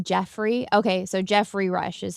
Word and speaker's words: Geoffrey: It's pronounced Jeffrey.